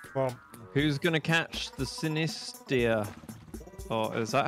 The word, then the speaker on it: Sinistea: Well, who's gonna catch the Sinistia? Oh, is that how you pronounce it? it's Sinistine. It's a tiny little teacup. Sinistea.